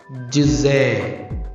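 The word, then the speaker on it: ژ: എ എന്നാണ് മലയാളത്തിൽ എഴുതിയതെങ്കിലും അതിൻ്റെ യഥാർത്ഥ ഉച്ചാരണം നോക്കൂ. ജിസേ.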